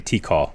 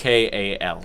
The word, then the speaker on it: Tikal: Is that how you say it? To call? Yeah. Okay. I keep saying T-call. I opened up this. Tikal.